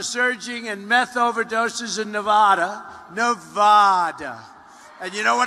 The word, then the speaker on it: Nevada: out here I said nobody says it the other way it has to be Nevada right and if you don't